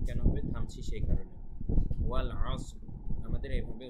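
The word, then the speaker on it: وَالْعَصْرِ: ওয়াল আসর, উচ্চারণটা খেয়াল রাখবেন।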